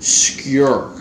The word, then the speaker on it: skur: get into the video skure is Norwegian for shed so it's written skur SK you are but it's pronounced skure like your knife skure knife that's the definition